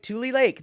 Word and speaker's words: Tule: yeah okay poppy shaney andre you are correct pronounced just like tule lake that is true i knew that it was